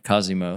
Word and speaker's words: Cosimo: Pronounce it for me. Cosimo.